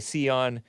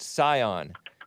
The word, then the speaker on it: Scion: He spelled it like the car, which I used to pronounce it Sion, but I heard that it's actually pronounced Scion.